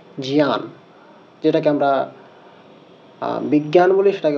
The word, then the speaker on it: জ্ঞান: কারণে জ, ইয়, জিয়া, অর্থাৎ যেটা আমরা জ্ঞান বলি, সেটাকে এখানে শুদ্ধভাবে বলতে হবে জিয়ান।